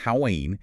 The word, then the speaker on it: Haüyne: We're looking at a new strike of gem-quality Haüyne, pronounced Haüyne, in the Badakhshan Province of Afghanistan, extending right near the border with Pakistan.